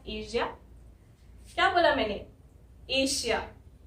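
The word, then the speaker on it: Asia: इस कॉन्टिनेंट को एशिया, इस कॉन्टिनेंट को कुछ लोग एशिया बोलते हैं यानी कि श बोलते हैं, और कुछ लोग एशिया बोलते हैं यानी कि वो ज बोलते हैं।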